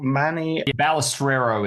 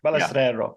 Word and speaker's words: Balestrero: Manny Balestrero is the way it's pronounced. Balestrero. Yeah. Okay, I should get that right because it's an Italian name.